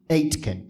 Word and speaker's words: Aitken: n as in Nancy it's pronounced like eight like the number eight and Ken is in your next of Ken so Robert Atkin Robert akkin I wanted